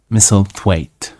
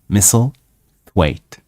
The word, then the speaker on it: Misselthwaite: So, and the manor which she will live in the story from now on is called Misselthwaite. Misselthwaite. Misselthwaite Manor.